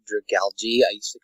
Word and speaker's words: Dragalge: line for y I recently learned that it's pronounced dragalge I used to call it like Drago egg is call it the seahorse are you speaking